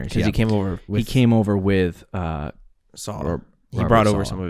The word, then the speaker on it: Saleh: Saleh, thank you. And they hired Mike LaFleur, who is the passing game coordinator from 2017 to 2020 of the 49ers, San Francisco 49ers. Because he came over with Saleh.